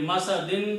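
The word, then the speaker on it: مسد: The word is masadin. If you stop, you pronounce masad.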